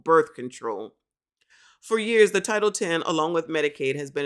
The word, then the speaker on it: Title X: what this is um title X pronounce title 10 oh shoot title 10 y'all child it's a x so I thought it was like Malcolm X title X but it's title 10.